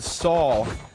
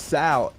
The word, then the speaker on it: Saul: Look, all I'm saying is there was a player last week called Saul, and everyone screamed at me that it was Sal. And then we got to the interview, and he said it was Saul.